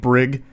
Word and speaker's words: Brig: I knew a kid growing up named Brig, Hard G, which I actually like better, though more likely to be mispronounced.